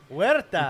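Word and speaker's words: Huerta: Werta, which is my last name.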